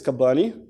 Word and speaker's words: Kabbani: Actually, my family name is Kabbani. Yeah. So how do you pronounce it?